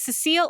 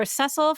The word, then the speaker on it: Cecil: with somebody very reliable now how you pronounce this name depends I always pronounce it wrong when I was little but I'm going to go with Cecil or cesil from Final Fantasy 4